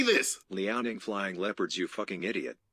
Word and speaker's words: Liaoning: Liaoning flying leopards, you fucking idiot.